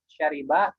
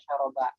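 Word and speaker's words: شَرِبَ: Ya, tadi kata syariba kita bacanya dengan ro di kasroh ya, syariba yang sebagaimana resminya. Meskipun lahjah lain bisa mengucapkannya syaroba.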